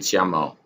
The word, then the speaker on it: YAML: They pronounce it YAML.